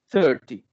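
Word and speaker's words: thirty: Y el 30 es 30. 13, 30. ¿Se nota la diferencia entre los dos? Al principio lleva el acento, ¿no? Exactamente. El 30 tiene el acento al principio.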